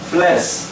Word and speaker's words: fles: Agora fles é curto, o E.